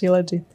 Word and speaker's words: Shilajit: Shilajit. Aha. Did I pronounce it correctly? Yes, yes, Shilajit.